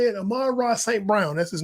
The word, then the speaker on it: Amon-Ra St. Brown: Amon-Ra St. Brown, that's his name.